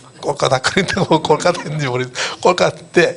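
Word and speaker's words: Kolkata: 캘커타인데 그 발음은 옛날 영국 사람들이 쓰는 거고 이제 인도 사람 오리지널 발음이 콜카타입니다. 콜카타 그런다고 콜카타인지 모르겠어요.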